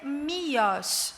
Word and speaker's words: Miłosz: E o nome dele é Miłosz. Vocês desculpem, porque eu estou fazendo a pronúncia polonesa, eu pesquisei, porque eu